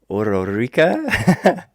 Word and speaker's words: Ordorica: Javier ORDORICA. I always try to roll the R and get the authenticity there.